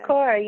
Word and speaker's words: Simrit Kaur: Did I pronounce that correct? I've got all You these. did, yes. All right. Simrit Kaur, yeah.